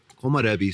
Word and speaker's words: Komorebi: Am I pronouncing the vineyard wrong? Komarebi.